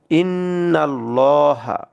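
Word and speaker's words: إن الله: আল্লাহু আকবার এখানে আছে ইন্নাল্লাহা ইন্নাল এই যে এই লামটাকে আমরা মোটা করে পড়বো লহা পড়বো এটাকে লাহা পড়া যাবে না ইন্নাল্লাহা পড়া যাবে না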